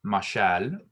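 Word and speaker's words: מָשַׁל: the following word, is mashal. Mashal. And this one kind of sounds like the word for marshal, just like a person who's ruling over in that sense.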